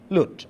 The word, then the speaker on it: LUT: with W bit wide LUT or look-up-table or luters it is called the different pronunciations but I will use the word LUT correspondingly as given here are a lot.